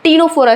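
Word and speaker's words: Ctenophora: आता है टीनो फोरा अब देखो इसमें सी साइलेंट होता है इस वर्ड में सी साइलेंट होता है हम लोग टी से स्टार्ट करते हैं पढ़ना टीनो फोरा इसको बोलते हैं ठीक है तो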